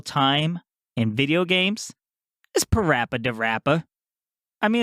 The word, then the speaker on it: PaRappa the Rapper: since corrected it and i know the pronounce it parappa the rapper it's great because it rhymes which is really on theme with hip-hop because in hip-hop things rhyme a lot so i think it's